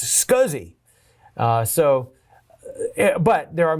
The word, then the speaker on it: SCSI: they're talking about a scuzzy connector which is a small computer system interface that that SCSI is pronounced scuzzy uh so but there